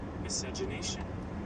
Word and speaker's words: miscegenation: to pop it up trying to get the actual pronunciation of it miscegenation you hear that can